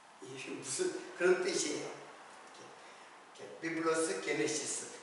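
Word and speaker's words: γένεσις: 그래서 이제 게네시스, 삼성 자동차에서는 제네시스라는 차가 있잖아요. 그 그 제네시스가 바로 게네시스를 그 영어 발음으로 하면은 제네시스예요.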